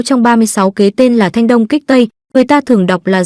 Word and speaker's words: Thanh Đông Kích Tây: Kế thứ 6 trong 36 kế tên là Thanh Đông Kích Tây, người ta thường đọc là Dương Đông Kích Tây, nghĩa là giả vờ